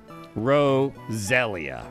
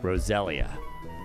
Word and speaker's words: Roselia: consult the book Roselia Roselia that's the official pronunciation Roselia heal up my Pokemon